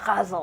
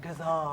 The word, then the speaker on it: ghazal: it because I've never tried to write a ghazal before, which the way you're pronouncing it, it's so glad to hear it actually pronounced because It's like, it's actually supposed to be more like ghazal, like that.